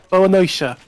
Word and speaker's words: boa noite: The pronunciation more oi instead of oi. Oi. Boa noite.